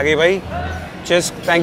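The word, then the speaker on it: Cisk: सबसे फेमस वो है चिसक। सीआई एस के करके नाम है। तो मैं इसको सिस्क और किस करके प्रोनाउंस कर रहा था बहुत टाइम तक। बाद में मुझे रियलाइज हुआ उसका नाम चिस्क है।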